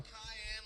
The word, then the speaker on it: Kahan: Cayenne, like the pepper, which phonetically Noah Cayenne, actually, so we're both wrong.